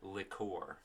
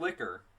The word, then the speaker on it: liqueur: But no, it's a Malibu Caribbean rum with coconut liqueur. Whatever the fuck that's, I don't know, liqueur. So, is it? Yeah, it's liqueur, God. not liquor. Liqueur.